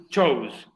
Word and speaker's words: chose: Y su pasado, el pasado de choose, es, ojo con la pronunciación, chose.